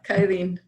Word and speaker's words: kything: Kything? Yeah, kything.